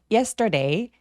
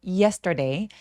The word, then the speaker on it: yesterday: Yesterday yesterday 할 때 이예라고 또렷하게 강세를 주는데 예보다는 이예처럼 e로 시동을 걸어 주시면 좋아요. yesterday.